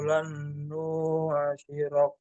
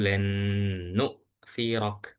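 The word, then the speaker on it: لَنْ نُؤْثِرَكَ: Qalu lan nusyirah. Oke, jadi bacanya gini Pak. Qalu lan nu'thirok. Nu'thirok.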